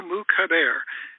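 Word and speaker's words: Moukhaiber: up up online m-o-u-k-h-a-i-b-e-r mooc Javier that's the way we say it he says it differently he says it wrong it's Marco moocabir and Marco is a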